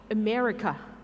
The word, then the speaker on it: America: คือ เสียง อะไร นะ เออะ อ่าน ว่า อะไร America America ไม่ ใช่ อเมริกา ะ เออ อเมริา แล้ว